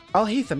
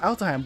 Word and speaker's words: Alhaitham: Alhaitham, not Altaheim.